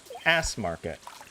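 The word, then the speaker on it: S-market: It's s market ass market. Finnish people are crazy. It's like they know they know they know English to say market and they know that the letter S is pronounced as ass.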